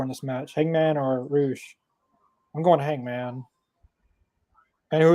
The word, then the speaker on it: Rush: Yeah, I thought it was Rush too, but he pronounces it as Roosh instead of Rush.